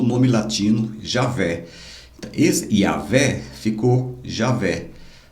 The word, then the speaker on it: Javé: YHWH se tornou o nome latino Javé. Esse Yavé ficou Javé. O H para nós é mudo, né? Então ficou J-A-V-E, tá? O W que sou de V.